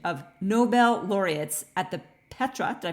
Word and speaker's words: Petra: You were invited by His Majesty King Abdullah II of Jordan to facilitate a brainstorming session of Nobel Laureates at the Petra, did I pronounce that properly?